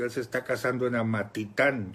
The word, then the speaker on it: Amatitán: se está casando en Amatitán yo lo estaba pronunciando mal amatitlán con l es Amatitán es que ustedes son